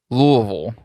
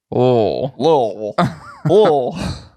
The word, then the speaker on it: Louisville: other day, I said the word Louisville, which is funny because it is traditionally a 3-syllable word, but it's a 3-syllable word that you can change into 1 syllable. Louisville.